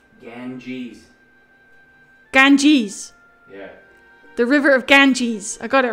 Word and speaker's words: Ganges: what the bloody level's called um the river Ganges gang gankies Ganges genkis Ganges the bad weather